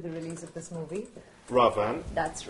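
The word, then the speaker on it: Raavan: Ravan. That's right, you pronounced it correctly.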